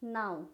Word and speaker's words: knee: तो क्या हो गया, नाउ। नाउ W को अगर हम लोग इग्नोर कर दे तो क्या हो गया, नो। उसी तरह से नेक्स्ट आप देख लीजिए, यहाँ पे नी, KNEE, नी, के साइलेंट है, NEE, नी।